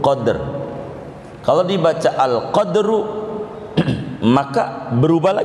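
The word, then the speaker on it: قدر: Kalau dibaca qafnya fathah, dalnya mati. Mati itu sukun, qadr.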